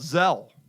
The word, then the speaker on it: Zelle: love a feature called zel I think that's how it should be pronounces they'll like gazelle I think it's the short of gazelle looks right which I